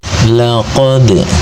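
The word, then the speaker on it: لقد: laqad. Di sini ada dal sukun namanya qalqalah sughra. Cirinya sukunnya sukun asli dan ada di tengah-tengah bacaan. Maka cara membacanya, dal sukunnya dibaca dengan suara memantul. Pantulannya pantulan kecil.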